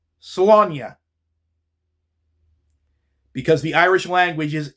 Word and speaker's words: Slaine: In the last couple videos where I mentioned this book, I referred to the title as Slain, because that's how it's spelled, S L A I N E.